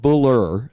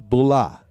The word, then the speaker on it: Bula: We've decided that the Australian accent handles their Rs very similar as the Boston accent. So it's not bull, it's bulah.